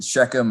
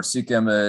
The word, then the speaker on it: Shechem: And you would then get to Shechem or Sikhem. It's spelled different ways, but that's the same place.